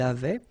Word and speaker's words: avaient: J'avais, tu avais, il avait. And then you saw probably that we've got also here A-V-A-I-E-N-T, but then you pronounce it avait. So the same way as we pronounce here, okay?